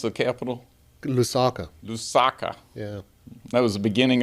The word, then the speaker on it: Lusaka: uh Zambia yes what's it how do you pronounce the capital Lusaka Lusaka yeah that was the beginning of a safari